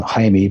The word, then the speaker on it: Jaime: Peru Jaime's real deal now in espanol they would pronounce his name haime but he I guess because he comes to North America so much you know I decided let people just call him Jamie to keep the confusion minimize